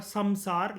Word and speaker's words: संसार: जैसे कि मैंने आपको बताया था, जो संस्कृत वर्ड्स इंग्लिश में लिखे जाते हैं, वहां पर एम का मतलब जब आप प्रोनाउंस करते हो तो एन कहते हैं। ये लिखा हुआ है संसार, लेकिन इसको बोलते हैं संसार।